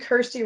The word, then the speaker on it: Kirstie: Kirstie rhymes with thirsty from Just Zero, as